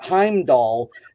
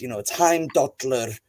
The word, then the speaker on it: Heimdallr: on it that it's, like when people say like Heimdall, and in Icelandic it's Heimdallr, that throws people off.